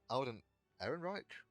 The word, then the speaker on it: Alden Ehrenreich: Heck, I bought Alden Ehrenreich, that's how you say it, as young Han Solo immediately.